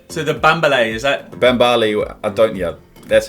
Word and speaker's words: Bambale: Bambale, that's how you pronounce it.